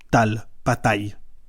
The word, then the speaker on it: Tal: Mon nom de famille c'est T a de L et les gens disent taille et je leur ai écrit sur le mur, ça se prononce comme ça tal.